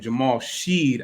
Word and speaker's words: Jamal Shead: I actually mispronounced his name. Jamal Shead out of Houston.